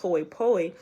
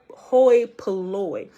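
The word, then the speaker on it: hoi polloi: it hoy poi but it's not pronounced hoy poi it's pronounced hoi hoi poloi a meaning like the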